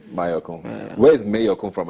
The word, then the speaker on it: Mayorkun: Mayorkun, right? Mayorkun. Not Mayorkun. Yeah, no, but your name is Mayowa. Yeah, my name is Mayorkun. So of course people naturally think it's Mayorkun.